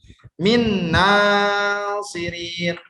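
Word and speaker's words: من ناصرين: Nah, cara bacanya min nasirin, min nasirin, min nasirin. Jadi nunnya itu langsung ke nun yang selanjutnya, bukan tidak dijelaskan nun yang sukunnya ya.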